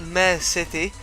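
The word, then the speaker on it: Miare City: There's also been an announcement of the main city in the game, which is going to be called Mare City.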